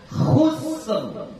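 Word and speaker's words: خسر: Maka ra yang di sini kita baca tafkhim. Jadi bacanya khusr.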